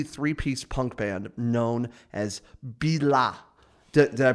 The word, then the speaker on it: BILA: this is the three-piece punk band known as billah did i pronounce it correctly okay cool i had to